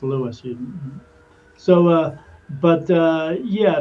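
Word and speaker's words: Lewes: Uh there's another place called Lewis, although it's spelled L E Wes. People call it Oh, I'm going to lose beach. No, it's Lewis.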